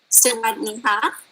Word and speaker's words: สวัสดีค่ะ: สวัสดีค่ะ Sawadee-ha? สวัสดีค่ะ Sawadee-ha. Yes. Awesome. Sawadee-ka.